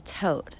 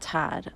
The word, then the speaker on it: Toth: killing his entire family this is Anthony Toth not Todd I've been saying the name wrong and this is his